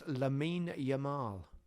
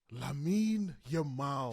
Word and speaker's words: Lamine Yamal: I think it's Lamine Yamal. Lamine Yamal.